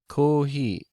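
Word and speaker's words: コーヒー: kohi throughout the day so we say coffee but in Japanese there isn't a pure F sound and so there is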